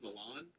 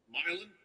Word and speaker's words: Milan: I believe he was born in, I think it's pronounced Milan, but in Ohio it's probably pronounced Milan. Milan. That's definitely how it's pronounced in Ohio.